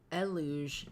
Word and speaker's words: Eluge: Marcus says, eluge as in deluge.